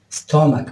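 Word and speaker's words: stomach: ايضا كلمه ستومك ستومك بمعنى معده او بطن، اوكي. ف يعني ننتبه للصوت تش في بعض الكلمات يلفظ ك.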